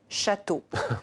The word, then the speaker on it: château: début du mont cassin en français on dit château sans appuyer sur l'une ou l'autre des six la voyez la différence